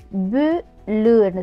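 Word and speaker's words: boule: அப்போ நாங்கள் இந்த லு கடைசியில் வர இந்த ஏவை வந்து முழுசாக உச்சரிக்காமல் ஒரு சின்ன உச்சரிப்போட நிப்பாட்டிடுவோம். பு லுன்னு சொல்லாமல் புல்.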